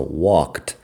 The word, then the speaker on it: walked: Fíjate que la ED suena como si fuera una T en eso, walked. Fíjate también que no estoy pronunciando una sílaba extra, porque no hay sílaba extra.